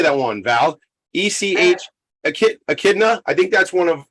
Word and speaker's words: Echidna: Echidna.